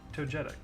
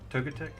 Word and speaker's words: Togetic: this beautiful Psychic type Togetic. Togetic? How do you say it? Togetic or Togetic? I've heard it both ways. Like jet, like J-E-T, or get. Togetic.